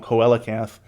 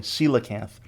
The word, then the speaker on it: coelacanth: the coelacanth in the last episode i was pronouncing it wrong coalicath i was doing the classical latin pronunciation coelacanth apparently coelacanth so this photo here this is the ancient